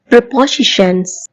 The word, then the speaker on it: preposition: good all ரபோசிஷன்ஸ் பொசிஷன் அப்படின்னா நிலையை குறிக்கும் ரீ அப்படின்னா முன்னெஎன்னும் அர்த்தம் கொண்டது இவை இரண்டையும் சேர்த்து நாம் ஒரு சொல்லாக ரபோசிஷன் என்றவாறுதான் உச்சரிக்க வேண்டும் ரிபோசிஷன் அப்படின்னு சொல்ல கூடாது எப்படி சொல்ல வேண்டும் வெரி